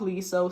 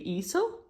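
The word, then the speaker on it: Leeseo: So first someone said it was with the L, but then everyone else came and said that Korean pronunciation is without the L, so Iso? Not Liso, so it should be Iso.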